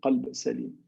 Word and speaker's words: قلب: قلب سليم, قلب سليم. Now, if you mispronounce that qaf, the letter qaf that you see here, and you substitute for it the letter kaf, the change of meaning is radically different.